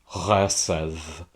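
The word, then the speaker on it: חֶסֶד: Chesedh. That's how I pronounce that Hebrew word up on the screen.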